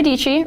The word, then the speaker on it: Deechi: my name is deechi rhymes with peachy I am a filmmaker